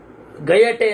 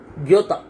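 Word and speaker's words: Goethe: ಆಮೇಲೆ ಇನ್ನೊಂದು ಹಾಗೆ ಇದೆ ಗಯಟೆ ಅಂತ ಇಂಗ್ಲೀಷರ ಉಚ್ಚಾರ ಶುದ್ಧ ಜರ್ಮನವರು ದ್ಯೋತ ಅಂತಾರೆ ಗ್ಯೋತ ಗಯಟೆ ಅಂತ ಭಾಗ ಇರ್ಲಿ ಆತರಹ ದಾವ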